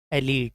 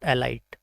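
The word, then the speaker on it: elite: एलीट, नॉट एलाइट। इसको हम pronounce करते हैं अक्सर अस्थमा, बट इसकी जो राइट प्रोनाउंसिएशन है वो है एज़मा।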